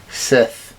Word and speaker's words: Sith: It sounds like you're saying fifth. Fifth. No, Sith. Sith.